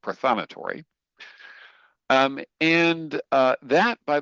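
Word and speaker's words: prothonotary: I actually thought that was prothan notary, but apparently in Pennsylvania it's pronounced prothonatory.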